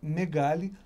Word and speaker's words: Megale: daí de 1992, 93, que é a Megali. Megali, que hoje responde como Megali da One Way.